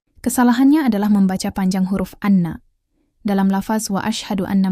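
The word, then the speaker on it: أنّ: Anna dengan nun bertasydid dibaca pendek artinya adalah bahwasanya atau sesungguhnya. Namun, kadang kita mendengar ada yang membacanya dengan panjang, menjadi anna.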